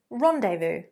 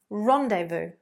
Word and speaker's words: rendezvous: The word is rendezvous, rendezvous. So basically, this is a nice advanced posh word meaning meet, to meet someone, to fix an appointment. So, what time shall we rendezvous?